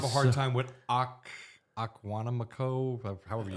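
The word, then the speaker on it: Oconomowoc: still are have a hard so- time with Aquanamico, however you say it. Makana. Akmawanika, yeah, whatever. No. It's Economawalk. Economawalk, that's it.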